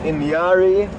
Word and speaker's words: Inyari: going to give you the easiest spelling for pronunciation purposes. So Ndlovu is elephant. Inyari, I-N-Y-A-R-I, Inyari, or also known as Inyati, is buffalo.